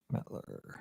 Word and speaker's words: Mettler: Mettler. I'm just used to everybody mispronouncing my last name my whole life.